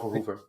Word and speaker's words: Verhoeven: Uh here to watch some um you pronounced it correctly. Paul Voover.